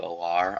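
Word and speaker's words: Allar: I don't even know if it's Drew Aller or Drew Olar. I'm pretty sure it's just Aller, but I've heard it pronounced differently.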